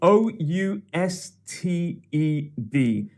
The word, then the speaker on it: ousted: this word is spelled o u s t e d ousted ousted that last sound is id and it means to